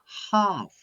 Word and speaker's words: half: Half. Half. The letter L is silent.